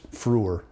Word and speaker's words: Freur: they just said now the pronunciation of the symbol is Frewer and so the record